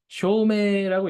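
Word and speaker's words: 証明: 쇼메라고 읽습니다. 메이라고 읽고요. 쇼메.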